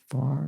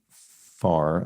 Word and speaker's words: fa: It is this but it's pronounced in an English accent that elides the R. Do, re, mi, far, I guess.